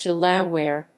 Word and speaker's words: De La Warr: the old norse there the barony and earldom are both pronounced to la where as in the american state of delaware baronese of dalawar the